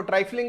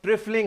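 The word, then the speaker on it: trifling: कुछ लोग इसको ट्राइफलिंग भी बोलते हैं, लेकिन राइट प्रोनाउंसिएशन क्या है? ट्रिफलिंग है। क्या है? ट्रिफलिंग। The right pronunciation is ट्रिफलिंग।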